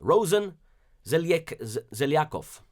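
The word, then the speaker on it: Росен Желязков: In Bulgaria, the Prime Minister, Rosen Zelyaskov, that's how you pronounce his name, for now you know.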